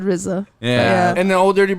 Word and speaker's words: RZA: I went to spell it. And I said she said RZA. Arza. Arza? She said Arza the first And the time. Jarza? And then I said RZA.